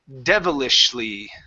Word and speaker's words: devilishly: Devilishly. Devilishly. Devilishly. Give me a good V here. Top teeth on your bottom lip.